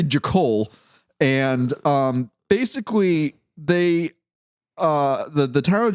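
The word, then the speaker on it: Jachol: Because I don't want to call it Jackhole, which is how it's spelled, but I'm going to say Jakol.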